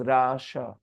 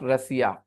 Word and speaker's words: Russia: बोलते हैं हिंदी में इंग्लिश में गलत प्रोनाउंस करते हैं the correct pronunciation is रशिया रशिया या perfect रशिया okay it इज नॉट रसिया रसिया तो बनता है